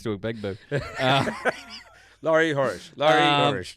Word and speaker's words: Horesh: His love for NFL or the sporting purist that is Laurie Horesh. Yeah, nailed that. Just put that up next to a big boo. Laurie Horesh. Just as long as the last H gets pronounced, we should be all right.